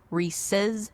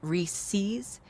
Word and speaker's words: Reese's: These days, she wrangles brand voice, editorial calendars, and her deep-seated belief that it's pronounced Reese's, not Reese's.